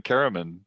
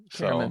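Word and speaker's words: Caramon: Well, it's always been Karaman to me. Karaman. So, yeah. Awesome. Yeah. As a derivative of caring man, I believe, is actually where nice.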